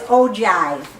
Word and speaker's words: ogive: looks like I'll give but it's ogive is how that's pronounced oh god yep so